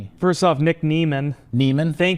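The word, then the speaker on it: Niemann: Neman, thank you to Hall of Fame tight end Antonio Gates for that pronunciation because I went back and watched him getting drafted in 2021.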